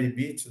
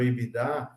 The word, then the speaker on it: EBITDA: EBITDA ou EBITDA, tem várias pronúncias aí, que mostra a geração de caixa,